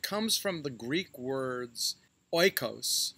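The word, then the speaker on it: οἶκος: from the greek words oikos for house which we now pronounce as eco and logee for word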